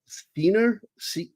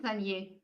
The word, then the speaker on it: Seigner: French girl, Emmanuelle Seigner. The G is silent. I think it's Seigner.